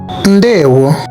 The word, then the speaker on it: Ndeewo: Ndeewo, hello.